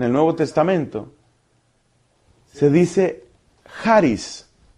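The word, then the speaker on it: χάρις: En el Nuevo Testamento se dice Haris.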